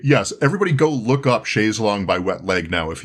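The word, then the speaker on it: chaise longue: I do really have a great indebtedness to Wet Leg for making sure that I understood that the proper pronunciation is chaise long and not chaise lounge.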